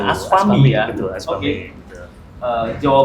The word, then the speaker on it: ASPAMI: Ai adalah Ketua DPD ASPAMI, Aspami, gitu saya bacanya. Aspami ya.